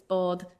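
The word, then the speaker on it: bád: If you want one boat, it's bod. If you want more than one boat, it's boyd.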